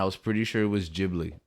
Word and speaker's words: Ghibli: Today we're going to be talking about one of the most important studios of all time, Studio Ghibli.